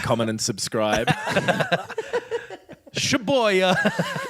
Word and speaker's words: Shibuya: Shibuya. Shibuya. Christ. Every time you get to the station, you got to like, comment, and subscribe. Shibuya.